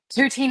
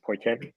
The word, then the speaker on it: poutine: Now I've heard it's pronounced poiten or poiten. Poitin? Oh, it sounds very Canadian. Poitin. Okay, I'm gonna start saying it like that, and people are gonna correct me and tell me it's poutine.